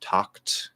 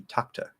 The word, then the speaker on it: talked: be misled by that the sound before it is voiceless it's talked then we have another t what happens when we have two t's between words like that we tend to stop the first one pronounce the second one tata that eddie ending is still there in that stop t if i completely drop it it would be takta takta which sounds present tense talk to tom he